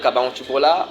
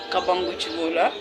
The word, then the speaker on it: Kabangola: présenté Kabutola ou vous avez d'autres noms que nous n'avons pas pu euh retracer ? D'abord, tu as mal prononcé mon nom. Mon nom c'est Kabangola. Vous l'avez mélangé ou utilisé à ta façon.